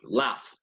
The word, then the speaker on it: laugh: through now an example in which a gh sounds like an F can you think of one how do you say how do you say brain in English or ISA very good laugh correct and how do